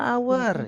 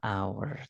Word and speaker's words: hour: itu kan konsonan nah ingat h-nya enggak usah dibaca karena H enggak dibaca Berarti langsung a kalau kita ngomong a berarti kira-kira huruf pertama yang kita ucapkan apa guys ei itu konsonan atau vokal vokalal jadi an hour jadi ingat suara oke